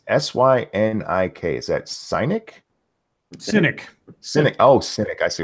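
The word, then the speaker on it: Synik: Yeah, I need to double pronounce this one. It's S-Y-N-I-K. Is that Cynic? Cynic.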